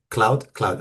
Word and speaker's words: Claude: Ahora ¿cómo lo pronuncia en español? Claude. ah, Wow. Cloud, ok.